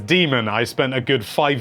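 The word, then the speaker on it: Daemon: demon eggs machina and yes it is demon I spent a good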